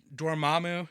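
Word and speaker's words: Dormammu: was it's Carl with a K MTO uh doramu is the proper way to say that and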